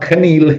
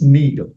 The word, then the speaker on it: kneel: e l it's not Canal it's Neil so it's one of those words that Ken like no NE know night and that day Ken the K is silent so NE kneel before